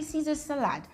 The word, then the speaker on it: Caesar salad: people that stay in London, how do they pronounce this thing? And they all confirmed that it's actually Caesar salad.